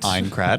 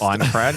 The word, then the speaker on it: Aincrad: Aincrad, I believe it's pronounced. Aincrad coming to PC, Xbox Series X, and PlayStation 5 on the 10th of July.